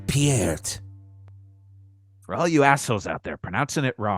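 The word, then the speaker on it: Peart: mugs from uh Jug's mug Emporium uh it's pronounced pierret for all you out there pronouncing it wrong for all this time yep it's not Neil pert all right my favorite dammer get out of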